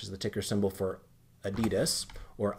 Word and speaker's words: Adidas: in ADDYY, which is the ticker symbol for Adidas, or Adidas, for those of you that like a distinct pronunciation there.